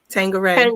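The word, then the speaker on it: Tanqueray: Tangeray.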